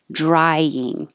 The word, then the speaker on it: drying: than 34 drying so drying is the eye your tongue has to start very low and your jaw open i and rise drying nate oh i'm drying